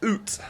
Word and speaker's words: Uth: It's German, it's striker, it's from Schalke, which means it's Ut or Uth, however you like to pronounce it.